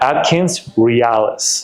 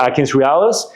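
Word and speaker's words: AtkinsRéalis: Is it like real? Yep. R E A L I S. Okay. Yes. Or you can Google Atkins realis.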